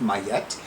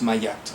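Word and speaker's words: Ma'at: it in good authority that her name is pronounced my yet because several years ago when i was at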